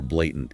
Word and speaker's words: blatant: law or rule where blatant is broader. Good distinction. Pronunciation is easy on this one, right? Fairly. Just keep that a sound clear like ei.